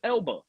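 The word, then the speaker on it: Elba: Idris Albert thought he was You can't even say his name right. It's Idris Ela.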